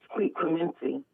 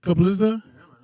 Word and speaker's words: Clemenza: Different voices according to Clemente, whatever his name is. Clemenza. Yeah, he says I call him with different voices every day. Yeah, how do you say it again? What'd you say? Clemenza?